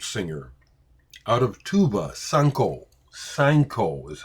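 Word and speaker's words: Sainkho: Sanko is how you say her name.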